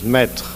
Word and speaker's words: maître: So he said, master is a joke in France because his master in French is maître. And the meter is also maître, is the same pronunciation.